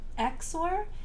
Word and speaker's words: XOR: This is pronounced Xor, and it's short for exclusive OR.